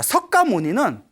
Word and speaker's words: 석가모니: 가니라 이제 필기가 되었고 우리는 발음 하기를 이제 똑같이 석가모니 이제 발음을 하고 있습니다 알겠죠 그래서 석 가족에서